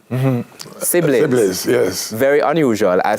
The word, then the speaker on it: Sibbles: So Sibbles, SIBBLES, SIBBLIES, and SIBBLIS. Sibbles. Yes. Wherever it comes from, in terms of the spelling of the last name. It's pronounced almost the same.